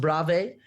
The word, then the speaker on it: Bravé: And then I'm also on it's pronounced Bravé, but it's spelled at bravemma.fitness.